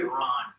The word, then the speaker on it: Iran: the proper pronunciation of it, Iran.